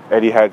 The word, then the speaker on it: Etihad: But as of right now, behind me, there's the Etihad Stadium. Am I even pronouncing that correctly?